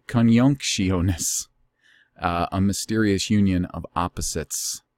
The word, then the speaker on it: Conjunctionis: And it's with an I, not a J. And it's so much harder to pronounce with just the I. Conjunctionis.